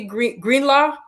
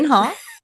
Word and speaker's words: Greenhalgh: So with us today we have Greenlaw. Is that how you say it? Greenhall. Greenhall. That's good. Greenhall.